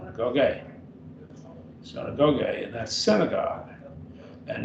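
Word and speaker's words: συναγωγή: Synagogue. Synagogue. Synagogue. Synagogue.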